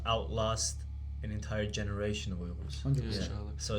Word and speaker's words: Uyghur: I've spoken about this before, but it's like when people get you to pronounce it a certain way, for example, which makes me cringe, is Uyghur. Now look, you can say it like that. I respect that you're at least trying, but try say Uyghur at least, or Uyghur if you can make that sound.